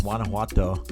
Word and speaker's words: Guanajuato: You know, come along with me down to Mexico, and it's actually pronounced Guanajuato, and it isn't pronounced anything like it looks. That's something that you have to learn about the Spanish language, you know.